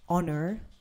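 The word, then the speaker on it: honour: follow what you're saying remember that if there is an H at the beginning of a word except for an example like honor h o n o u r that's an example or honest h o n e s t the rest of Words which begin with h you you have to pronounce the h Hospital Hotel holy happy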